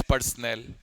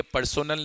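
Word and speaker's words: personal: For consumption of defence पर्सनल। और ये पर्सोनल नहीं होता है, तुम्हारे टीचर्स भी गलत बोलते हैं, तुम्हें भी गलत बताते हैं, पर्सनल होता है।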